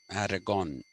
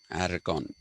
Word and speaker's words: Aragon: to marry katharine of aragon aragon sorry that is the spanish pronunciation aragon he didn't want to